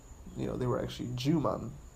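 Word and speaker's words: Jūman: They were actually Juman, which is supposed to rhyme with human, and Ju in Japanese means beast.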